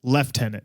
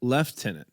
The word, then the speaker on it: lieutenant: Sorry, Lieutenant is how they say it. Lieutenant. Lieutenant. Lieutenant.